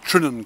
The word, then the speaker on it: Terringzean: and the distance is trining castle pronounced that way but spelt tarinsian one time is also